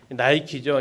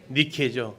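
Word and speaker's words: Nike: 나이키죠. 이 영어 발음이 아이자가 아이로 읽으면서 나이키가 됩니다. 근데 그냥 알파벳 이름대로 그대로 읽으면 뭐가 됩니까? 니케죠.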